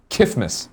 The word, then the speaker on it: KFMS: I like to abbreviate to KFMS, pronounced Kifmas. Yeah. Please say it like Just like Mike Tyson saying Christmas.